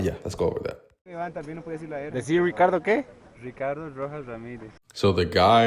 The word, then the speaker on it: Ricardo: is is Ricardo the if your name starts with an R according to standard Spanish quote unquote your name is not Ricardo it's Ricardo Ricardo right and so